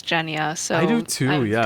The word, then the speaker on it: Genya: hands down yeah yeah i've been pronouncing her name wrong like this entire time i think i i prefer genya personally but it's jenia so i do too